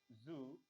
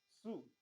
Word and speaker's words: Zoo: gender is masculine okay Su as U you pronounce this it's two not Zo okay that's ger okay